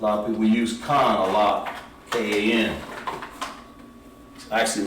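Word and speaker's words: כן: So yes, in Hebrew would be pronounced Khan. Khan means yes.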